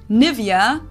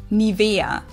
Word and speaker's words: Nivea: native speakers usually say Nivea Nivea in German we say Nia Nia so the emphasis is on the E Nia this is